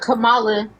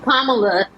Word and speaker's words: Kamala: First of all, honestly, I feel like they only brought Kamala. That's not how you pronounce her name. Kamala.